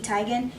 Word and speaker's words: Teigen: And honestly, this palette, like, I only got it because I'm a fan of Chrissy Teigen. Pronounced Teigen, I actually learned that recently.